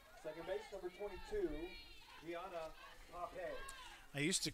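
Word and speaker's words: Paape: This hitter is Pappy. How do you say this name, DT? Pape. P-A-A-P-E.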